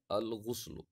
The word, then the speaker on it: الغسل: بہانا۔ وَيُلْفَظُ بِضَمِّ الْغَيْنِ، اور اس کے لیے جو تلفظ ہے، پروننسیشن ہے، وہ ہے غین کے ضمہ کے ساتھ، یعنی غین پر ہم پیش پڑھتے ہیں الغسل، اور اسی طریقے سے کسرے کے ساتھ بھی پڑھا جاتا ہے، یعنی غین کے کسرے